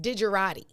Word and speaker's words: digerati: of the day word of the day it's pronounced digerati did you arrive did you dejarati it is